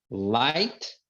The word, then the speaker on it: light: Daughter que é filha Light Light Light que é luz não é pronunciado GH right right que é